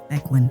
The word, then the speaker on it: Bequin: So I think her name is pronounced Bequin? Yeah, Bequin.